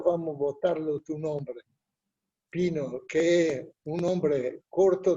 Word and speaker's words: Pino: No tiene otra forma que se no decir Pino, no hay Paina o Painou o cosas por el estilo. Pino es Pino.